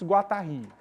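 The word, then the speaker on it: Guattari: teórico francês chamado Félix guatarri tá o nome dele se pronuncia assim se escreve Félix Guari mas se pronuncia guatarri porque ele é francês e os três sentidos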